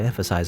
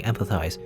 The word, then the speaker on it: empathize: never be able to empathize with me. Also, I keep saying empathize or emphasize. See, I'm saying it wrong. Emphasize is not emphasize, it's empathize. Empathize. Empathize.